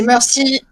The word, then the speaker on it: Mercy: Enfin, Mercy, il faut le prononcer à l'anglaise. Ah, c'est Mercy.